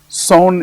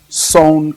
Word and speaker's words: son: we call sewn clav one 2 3 4 son is spelled s o n son CL and this